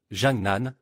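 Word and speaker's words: 江南: Mais au moins, ce n'est pas aussi compliqué que Jiangnan, qui est correctement appelé Jiangnan, ce qui signifie rive droite du fleuve Yangtze.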